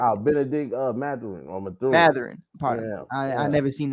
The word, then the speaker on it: Mathurin: Mathurin, pardon me. I never seen that name before. So hey, you're gonna have to learn about him though. Benedict Mathurin.